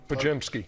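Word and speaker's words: Podziemski: Pajimky.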